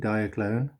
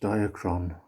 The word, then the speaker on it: Diaclone: it says diaclone everyone i know called it diaclone um but it's pronounced diacron so there we go now as you can